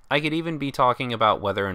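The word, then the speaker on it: を: The particle o is often said as o without the w, but when you're writing it out, it has a special character, representing w-o.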